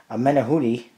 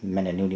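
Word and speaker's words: Menahune: Menahuni, actually is that's how you pronounce it, Menahuni, not Menanuni, whatever I said before.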